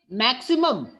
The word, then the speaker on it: maximum: Maximum, there is also a vowel sound, but it is being pronounced as maximum.